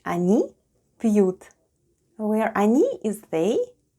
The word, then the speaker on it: они: The first letter is O and it's unstressed and it's pronounced as A, then goes N and I. And altogether it's они.